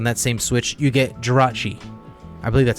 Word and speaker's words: Jirachi: shield series on that same switch you get jirachi i believe that's how you pronounce it oh yes you're correct okay um